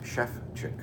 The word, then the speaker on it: Sevcik: It's pronounced Sevcik. Wow. Okay. An easy way to remember in English, not necessarily in Spanish, is as the chef who cooks chicken. Ah, Sevcik.